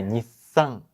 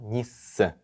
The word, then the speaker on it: Nissan: Que não se pronuncia como no português, nasalando com tio. Você tem que pronunciar o N. Então é Nissan e não Nissan.